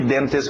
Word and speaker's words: dentist: Being Dentist Dentist Dentist pronúncia rápida de denst uma palavra conhecida todo mundo na hora de escutar D sabe o que é um denst evitamos os TS lembra então tira esse T Denis Denis Denis today